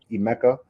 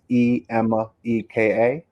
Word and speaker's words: Emeka: Even Google, wherever you want to go, just type in my full name, which is Emeka. That's Emeka. And then my last name is, which is spelled M for Mary, B for boy, A for apple, D for David, IWE.